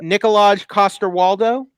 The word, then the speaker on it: Nikolaj Coster-Waldau: Nikolaj Coster-Waldau.